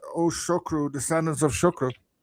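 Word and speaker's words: Sugrue: First of all, uh it's a Kerry name, but the English pronunciation is not Sugru, it's Shukru.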